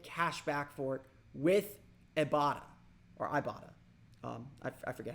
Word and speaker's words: Ibotta: back for it with Ibotta or Ibotta um I forget how they want us to pronounce it but it's i-b-o-t-t-a that's I bought it you can earn cash